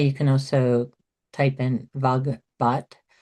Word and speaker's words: Vagbhat: This may be the quickest, but you can also type in vogbot. Vogbot is spelled uh B A G B H A T.